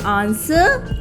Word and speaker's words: answer: next word is answer in answer there is no sound of w next word is wheat